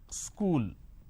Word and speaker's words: school: to America for example the word which is School there are two syllables KU Le School but in in places like uh up Bihar jharkhand they add another syllable they pronounce this as school wherever there is a